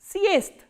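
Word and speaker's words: съезд: And what is the voiceless counterpart of the? Is t. That is why we are pronouncing this word as siest.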